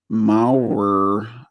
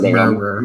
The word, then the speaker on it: Maurer: This is from a Mitchell Maurer. I think that's how you pronounce it. No, it's Murrer. It's Murrer, if you pronounce it correctly.